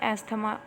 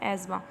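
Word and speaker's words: asthma: और ये है एस्थमा, इसकी करेक्ट प्रोनाउंसिएशन है एज़मा।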